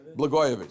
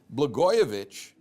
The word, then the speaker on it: Blagojevich: How do you pronounce it? Blagojevich.